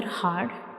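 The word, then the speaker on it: ه: Our next letter is ha. Ha. So this is the shape of ha, and ha is a throat letter and it is pronounced from the bottom of the throat.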